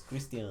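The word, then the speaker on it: Cristian: Don't call me Chris, homie. It's Christian. It's Christian. And that's technically how my name is supposed to be pronounced too. Because it's the Mexican.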